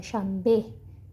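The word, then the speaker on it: شنبه: में प्रोनाउंस किया जाएगा शबे हा को हम लोग ये की तरह जो बड़िए होता है उर्दू का बड़िए इसकी तरह से प्रोनाउंस करते हैं ठीक है शबे शबे कहते हैं हफ्ते को सैटरडे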